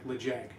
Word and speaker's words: Ledaig: during that tasting was it's spelled Le Deg, but it's kind of like Le Jag, I think is how you say it. So LEDAIG.